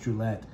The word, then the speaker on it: Druillet: the the different Dragon skins his name is pronounced Gillette and this of course you know I knew